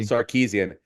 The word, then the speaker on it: Sarkisian: Yeah, Sam Tripoli is going to be upset with you for not being able to pronounce his fellow Armo's last I name know. correctly. Sarkeesian.